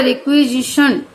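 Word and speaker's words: requisition: इसका जैसे प्रोनाउंसिएशन होगा रिक्वेजिशन, ये जो TION है इसका शन ED का डे हो ही जाएगा, तो रिक्वेजिशन SI का स नहीं होगा, G होगा, रिक्वेजिशन बाय द गवर्नमेंट।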